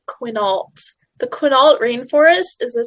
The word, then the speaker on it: Quinault: a three sided yeah the actual pronunciation is quinault the quinault rainforest is